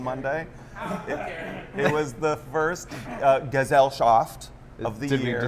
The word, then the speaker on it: Gesellschaft: It was the first Gesellschaft of the Did year. we decide on that? I think it's a hard G. It's a German word, so it's a hard G, right?